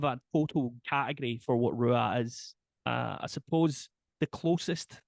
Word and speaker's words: Ruadh: there's people in Scotland that pronounce it Ruad, and there's people in Scotland that pronounce it Seor and Shore, Oh, and really? just about every other permutation.